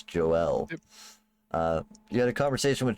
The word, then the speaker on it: Joelle: ate one yeah uh Joelle is her name spelled like kind of like Joel but it's Joelle uh you had conversation